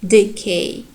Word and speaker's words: decay: And then the next word, the K is stressed syllable, and the first one, D, is unstressed. Therefore, it is reduced, decay.